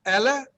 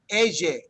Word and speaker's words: ella: America or de España, they say ella, ella. So it almost sounds like that yes sound is like a Z, like a Z, ella. It's not incorrect, it's just a different way of pronouncing it.